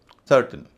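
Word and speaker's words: certain: सर्टेन adjective है। इसका उच्चारण भी सर्टेन होता है ना कि सर्टेन।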